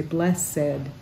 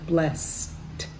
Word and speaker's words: blessed: said some people say bless said but that s sound is a breath sound not voice so it's more usually said blessed messed so that's a